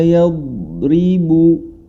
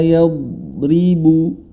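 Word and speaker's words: يضرب: Yang pertama, huruf dhad adalah huruf yang tebal, isti'la dan itbaq. Maka ketika dia menjadi sukun yang mana sebelumnya atau didahului huruf ya, ya-nya juga sama, jangan sampai terbawa tebal, tetap dia ya, kadzalika ya, kadzalika ya, tetap menjadi huruf ya.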